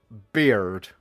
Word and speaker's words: beard: You pronounce the R, so it becomes beard. Weird.